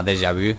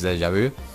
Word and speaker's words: Deja Vu: Deja Vu, y se llama Deja Vu, la pronunciación exacta, porque ya se habla francés y es Deja Vu.